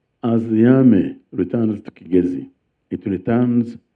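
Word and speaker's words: Kigezi: the Kigazi sub region, by the way, it's pronounced kazi, but because of Chiganda influence, because in Chaganda Ki is pronounced as chi, many people now call it chigzi. But the proper pronunciation is kazi.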